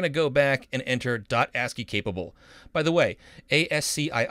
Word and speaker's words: ASCII: now we're going to go back and enter asky capable by the way ASCII is pronounced asky it stands for the American Standard code for